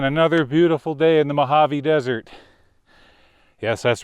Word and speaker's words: Mojave: Again, another beautiful day in the Mojave Desert. Yes, that's right. This time I pronounced it correctly.